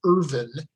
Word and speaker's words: Irvine: And by the way, you'll notice that Jeannie and I are pronouncing it Irvine, and we learned that that pronunciation is correct from descendants of John Irvine.